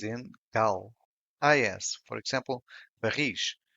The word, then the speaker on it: barris: Is, for example, barris, which means barrels, the stress is in ris.